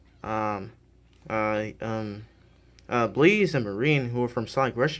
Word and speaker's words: Marine: then after Blaze and Marine introduced themselves, he uh Shadow mispronounces Marine's name by calling her Marie.